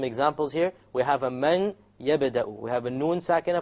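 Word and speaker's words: مَن يَبْدَأُ: It's immediately the mim associates with the ya, and you drop the noon sound.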